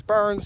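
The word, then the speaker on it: Byrne: Colonel Richard Burns and it's byr n um humble collector suggested I pronounce it as Burns so we're going to go with that I think it's bur so if you think I'm wrong you can't burn me you got to go burn him oh wow yeah let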